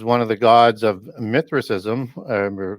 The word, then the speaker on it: Mithraism: And Mithra is one of the gods of Mithraism, or Mithraism, as some people would also pronounce it, which was one of the most